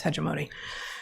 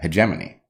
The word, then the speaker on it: hegemony: hegemony right exactly exactly which I would pronounce differently but that is uh Germany uh hegemony hegemony hegemony oh right I turned it into the noun form without correcting where the syllable went yeah right exactly yeah